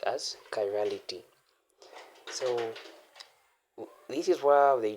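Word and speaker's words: chirality: This is pronounced as kirality.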